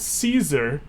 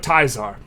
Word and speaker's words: Caesar: Everyone knows this is pronounced not Caesar, but Tizar.